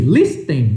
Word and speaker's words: listen: Nesta palavrinha aqui, curiosidade de pronúncia, você não fala esse T aqui. Ela é escrita com T, aí você olha aqui, listen, listen, não. Tira o T e fala listen, listen, como se não tivesse o T. Escreve com T, mas esse T não é pronunciado, então não é listen, é listen, listen, listen.